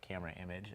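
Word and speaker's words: Camerimage: out some folks to camera image in Poland most likely or camera image as I've been told it's pronounced uh our lenses will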